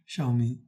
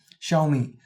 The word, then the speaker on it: Xiaomi: அடப்பாவீங்க, நான் சொன்னது நான் அப்படி சொல்லி நான் XIAOMI, ஷவுமி. இந்த பிராண்டை எப்படி ப்ரொனவுன்ஸ் பண்ணுறது? ஷவுமி, ஷவர் அப்படிங்கிறதுல உள்ள ஷவ், மீங்கிற மீ.